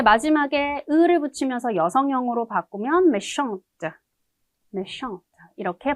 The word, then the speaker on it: méchante: 근데 마지막에 을을 붙이면서 여성형으로 바꾸면 méchante, méchante 이렇게 발음이 되죠.